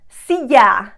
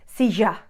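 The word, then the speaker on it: silla: currently sitting on a see ya see ya okay notice that sound see ya what would an argentinian say sija sija apologies argentinians if i'm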